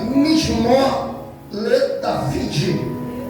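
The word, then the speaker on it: מזמור לדוד: O salmo ele começa Mishmor le David. É a pronúncia da linguagem hebraica.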